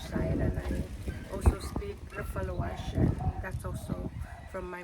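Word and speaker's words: Refaluwasch: Rafalawash.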